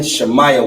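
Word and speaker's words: שמעון: shall I um announced the tribe of Simeon shamaya one that's how you will pronounce that uh in ancient Hebrew so when we're talking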